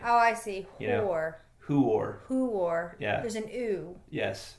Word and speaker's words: Huor: But it's it's actually who there's no Y sound in there, right? Oh, I see. Who are there's an oo.